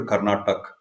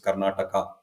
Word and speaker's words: Karnataka: come down where you going I'm going to karnatak okay but here I mean even the English spelling has that a at the and and we pronounce it we say that you know it is Karnataka and it is not keral it is Kerala